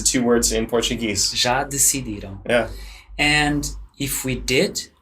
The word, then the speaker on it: decidiram: I can say, já decidiram. Yeah. So you might hear that. It sounds like the word decide.